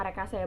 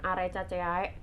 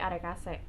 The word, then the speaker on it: Arecaceae: Itu bacanya Arecaceae ya, bukan Arecaceae, tapi Arecaceae.